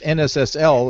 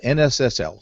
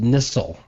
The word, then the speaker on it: NSSL: And one of those things is that it is not pronounced NISL, right?